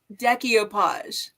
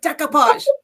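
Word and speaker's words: decoupage: can't resist watching, but she says decopage and it drives me insane. It's like decopage. Don't put that extra syllable in there.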